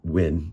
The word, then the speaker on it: Wein: It's spelled Wein. I've heard it pronounced a little bit different by different people, but looking at their own video, sounds like they're calling it Wein family.